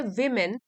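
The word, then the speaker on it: woman: ओ एम ए एन उसको pronounce करते हैं वुमेन वुमेन प्लूरल हो जाएगा वीमेन वीमेन इन मेनी societies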